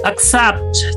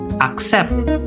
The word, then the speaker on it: accept: Accept. Coba kita lihat cara pelafalannya ya. Ini semua pakai e, E e, dan E. Jadi, bukan accept ya. Accept bukan, tetapi accept.